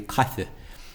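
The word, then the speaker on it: caife: It sounds as if she's pronouncing that as an E. That should be a cafe.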